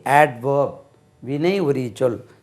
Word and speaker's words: adverb: இது adverb, ADVERB, adverb. சார் இங்கே டி உச்சரிக்கக்கூடாதுன்னு சொன்னார், அதனால் இதுலேயும் உச்சரிக்கக்கூடாதுன்னு சொல்லி அவர்ப்னு சொல்லாதீங்க. இந்த இடத்துல டி உச்சரிக்க வேண்டும். adverb, இதை பிரதி பெயர் சொல்.